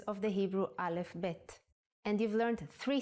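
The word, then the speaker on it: ב: good let's move on the second character is BET The Sound of pet is ba and it looks like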